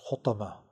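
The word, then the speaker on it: Hutamah: unnoticed a special crusher this hotma which rhymes with lumaza and homazaran is in store for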